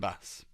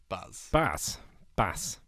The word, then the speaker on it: BAS: So, Pete and Baz, they're wicked. You should check them out. It's Pete and BAS. Pete and Baz. Baz. Bass. Bass. Well, it's not bass, is it? Because that's double S.